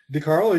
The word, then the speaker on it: DeCarlo: Is that how to say it, DeCarlo? DeCarlo, you got it.